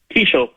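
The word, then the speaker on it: Keaschall: Is it pronounced Keshaw? Kishel. Kishel. Okay. Kishel.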